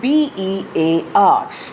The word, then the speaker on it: bare: This is the second set of homophones, spelt as B-A-R-E and B-E-A-R. Both are pronounced exactly alike as bear.